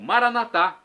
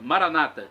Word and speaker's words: Maranata: e agora eu clamo Maranata do dialeto de Jesus o aramaico nós católicos colocamos a tônica na última sílaba nossos irmãos separados evangélicos ou protestantes colocam a tônica na penúltima sílaba Maranata não importa significado é